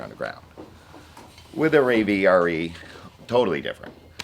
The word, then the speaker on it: Rave RE: Well, I currently, before I got onto the Rave RE, is the way you pronounce it, I was riding a 21 Renegade XRS.